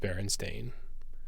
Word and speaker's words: Berenstain: believe that it's pronounced berenstain i won't i'll never believe that there was an a there because i don't want